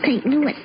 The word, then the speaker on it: St. Louis: Excuse me, Mr. Costello, but it's pronounced St. Louis.